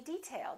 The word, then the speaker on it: detail: one did you say detail or detail if it's a noun we say detail that's an interesting detail first syllable stress this is a hard